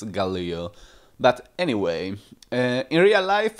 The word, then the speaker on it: Galil: So, first thing, I had to carry out a research to find out the correct pronunciation of the name of this weapon, and I'm fairly positive it's Galil.